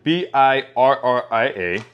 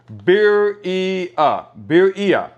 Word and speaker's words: birria: It says the word birria, which is B-I-R-R-I-A, okay, is pronounced birria. Or in Spanish, it says birria. So you got to roll the R because it says birria.